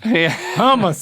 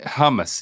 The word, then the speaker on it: hummus: letters him no no h u m hum humus that's it that's it man it's right under